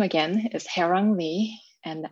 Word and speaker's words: Haerang: hair on me and how you pronounce it is like something you would say on a bad hair day when your hair does not look right instead it looks wrong hair wrong it's korean for together